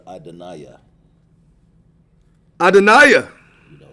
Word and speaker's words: Adonai: It's like Ada Naya. You pronounce it better, Adonaiah.